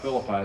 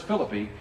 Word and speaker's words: Philippi: have called a Philippi if you ever go over to ancient Greece and ask about Philip I they look at you funny but if you say where's Philip II then you're pronouncing right so they'll kind of